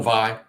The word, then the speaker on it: Vai: I'm going Vi. Vi? Yeah, I think Vi. Not Via. He's a famous guitar player. Famous guitar player with that last name. That's how he says it. And it's spelled VAI. Vi, Steve Vi.